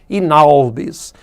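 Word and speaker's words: in albis: Inalbis são duas palavrinhas, in, né, e a outra palavrinha em latim, albis, com L. A-L-B-I-S, albis. Aí, ao falar, você fala tudo juntinho, né? Inalbis. Transcurso inalbis.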